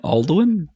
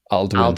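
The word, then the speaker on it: Alduin: Aldwin. Aldwin. Aldwin.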